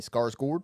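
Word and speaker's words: Skarsgård: I I am sorry that we that we offended you for mispronouncing his last name, but we're probably gonna keep saying Scarsgard. Yeah. Yeah. Just I'm gonna do my best to say Scars Gourd.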